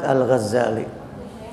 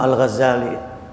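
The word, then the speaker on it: الغزالي: kaum muslimin nama al-imam al-ghazali al-imam al-ghazali boleh kita membacanya dengan mentasydidkan huruf Zain nya jadi hurufnya dibaca Dibaca tasydid atau juga tanpa tasdin boleh dua-duanya dengan tasydid atau tanpa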